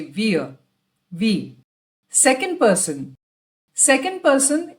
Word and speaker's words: wir: Wir. It's W-I-R. But we pronounce it as wir. The R at the end is always silent.